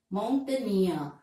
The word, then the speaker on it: mountaineer: So, the last syllable is stressed. Career, volunteer. Pioneer, referee, refugee, and word ending with ee, mountaineer.